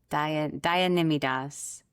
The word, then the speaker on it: Daya Nimai Das: Dian Nimidas Dianidas.